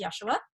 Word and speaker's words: Yeshua: But when he came to me, he pronounced himself as Yeshua.